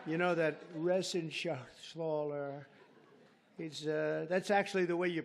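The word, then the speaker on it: Reschenthaler: And Guy Resenshathaler. You know that Resenshathaler. That's actually the way you pronounce it, you know.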